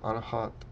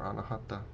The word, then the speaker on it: Anahata: So this is the heart center, Anahat, or Anahata, The A's at the end of the words in Sanskrit aren't typically pronounced. So sometimes you'll hear the chakras as anahat or anahata.